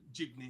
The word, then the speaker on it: jeepney: ride this um R this jeepney is that how you pronounce It Felix yeah jeepney okay and that's that's